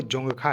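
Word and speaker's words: Dzongkha: जो official language है वो जोखा है दी साइलेंट है यहां पर इसको ध्यान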